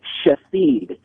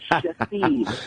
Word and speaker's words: Shithead: I have a patient in my practice whose name is pronounced Shahid, spelled S-H-I-T-H-E-A-D. His name's spelled shithead, but they pronounce it what? They pronounce it Shahid.